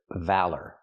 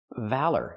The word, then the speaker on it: valor: Now, let's talk about this word valor. Valor. Use the short a sound like black cat. Val. Then the sound like burger. Valor. Put the stress on the first syllable.